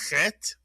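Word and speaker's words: חית: It makes the clearing of the throat sound. It looks a little bit like a hey, but it has no hole. So, it is the chet. And it is designated in English by the letters ch, because there is no ch sound in Hebrew, so we can use the ch for the clearing of the throat as in chet.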